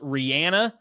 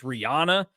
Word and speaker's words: Rihanna: Uh he is the one that tried saying that it was pronounced Rihanna to John Curts and I on the game one time when we said, "No, it's Rihanna."